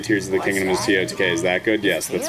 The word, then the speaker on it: TOTK: Is it pronounced T-O-T-K or Totic? It's definitely T-O-T-K. If anyone says Totic, they need to go to therapy.